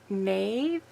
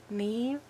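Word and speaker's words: Niamh: pronounce her name properly Nave Nave Bailey she's Australian I think her name is spelled not as it sounds um n a i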